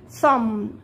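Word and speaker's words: thumb: ثم، ثم، ثم، شايفين انا بقف لحد الام، يبقى البي دي ايه؟ سايلنت. خلينا متفقين ان اي ام لو جه وراها بي يبقى البي دي سايلنت يا اولاد، يبقى اصبع الابهام ده اسمه ثم، ثم، ثم، تمام.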